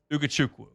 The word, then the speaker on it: Ugochukwu: But, the latest today, Divine Ugochukwu Ugochukwu Ugochukwu Ugochukwu Ugochukwu I missed it. No, it's Ugochukwu. You said it right the first time. Ugochukwu Yeah.